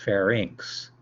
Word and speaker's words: pharynx: to pharynx means it's not fair Nicks is pronounced pharynx to the middle ear so it's an opening